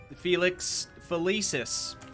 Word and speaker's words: Felix Felicis: go out on a limb here and say Felix felicis yeah that is how you say it okay